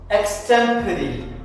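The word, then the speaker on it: extempore: ന് ട് എ ല് Kleon tell അടുത്ത വാക്കാണ് എക്സ്റ്റമ്പറി എക്സ്റ്റമ്പറി നമ്മൾ കുട്ടികൾ സ്കൂളുകളിൽ അവർക്ക് ആ സ്റ്റേജിലേക്ക് കയറുന്നതിനു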